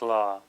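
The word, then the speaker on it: ཀླ: the sound is high so here we have C with law subscribed beneath it resulting in the sound law so the way that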